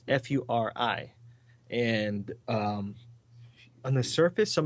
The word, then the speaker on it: Furi: It's actually one that's being released that day, and it's I don't know if it's pronounced Fury or Furry because there's some furry things in there. It's Furi, and on the surface,